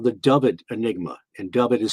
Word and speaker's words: Dyfed: It was called the Dyfed Enigma, and Dyfed is spelled D-Y-F-E-D.